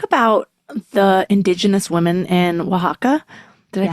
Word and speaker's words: Oaxaca: You talk about the indigenous women in Oaxaca. Did I pronounce that right? Yes, Oaxaca.